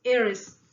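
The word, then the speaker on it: heiress: Harris, Harris का मतलब उत्तराधिकारिणी, ठीक है, फीमेल जो उत्तराधिकारी होता है उसके लिए एरिस बोला जाता है, ठीक है, प्रोनाउंसिएशन इज एरिस।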